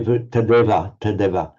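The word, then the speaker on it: तदेव: You pronounce that very tadeva. Tadevahi. I was trying so hard not to lengthen the vowels either side that I skipped over that one.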